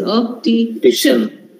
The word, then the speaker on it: optician: Such words take stress on second last or the penultimate syllable. So for that, you need to understand how many syllables are there in this word. Of optician. There are only three. We don't say optician. It is optician.